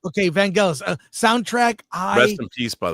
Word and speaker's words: Vangelis: Vangelis? It's not gel, it's gal. It's a hard G. It is gal. Okay, Vangelis.